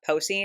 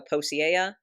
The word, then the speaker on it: Posey: Remember how I said about Posey, how I always want to go Posiea?